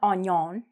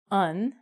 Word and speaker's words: onion: And this is not onion. It's actually onion. So you want to say onion.